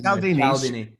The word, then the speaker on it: Cialdini: Oh, mispronounced his name. There's an I there. Cialdini.